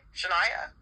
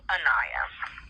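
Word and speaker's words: Aniya: What was your name? Shania? No, Anaya.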